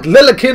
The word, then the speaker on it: Lilikin: Right, Lilikin and Jiants, that's how it's pronounced.